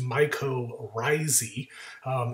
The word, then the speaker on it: mycorrhizae: A weird spelling of this word, but it's pronounced mycorrhizae.